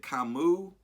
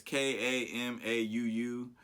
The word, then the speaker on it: Kamau: Next artist is, let me see how you say it, Kamua. I don't know how you say it. It's Kamau.